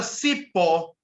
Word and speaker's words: cipó: Na palavra cipó, o O é acentuado. Por quê? Porque a palavra oxítona terminada em O, ela tende a ser acentuada. Correto?